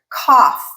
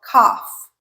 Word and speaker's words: cough: And the last one is off or off in American English such as the word cough or cough.